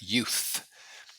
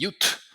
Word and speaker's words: youth: is youth so pronunciation this is a very difficult difficult sound for people to say people say you v v people say like a t they see a t so they say UT U some people say